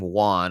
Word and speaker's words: Juan: so much is that my name Juan also sounds like check one two one I used to get